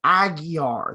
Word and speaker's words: Aguiar: him in the discord i said man i've heard your name pronounced like five different ways like how do you pronounce it for and let me know so i know the real way he said aguiar that's how it's pronounced aggie um see tyler